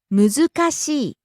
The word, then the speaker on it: 難しい: Next, 難しい。 difficult. むずかしい。難しい。 Again, rising on the second syllable zu and coming down on the last syllable i.